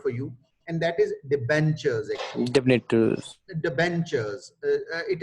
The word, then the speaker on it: debentures: uh here it is tur sound that is uh marked in red this tur sound is sounds like a cheer occurs in cheap and witch so the benchers we pronounce it debentures these are secured uh